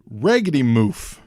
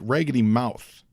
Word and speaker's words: Raggedy Mouth: with my pronunciation of Raggedy Moof. Now I'm saying it Raggedy Moof. Apparently, this was meant to be like Raggedy Mouth, like the guy.